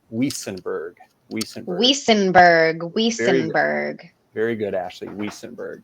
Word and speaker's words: Wuestenberg: the V pronunciation, because back in the homeland, Germany, where I'm from, I'm pretty sure that it would be, the Wiesenberg, but actually the T is silent, so it's pronounced Wiesenberg.